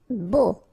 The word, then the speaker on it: beau: Beau. Okay, so remember we've got this strange combination of vowels. A, U, so 3 vowels, but then phonetically it's only O. Okay, so beau.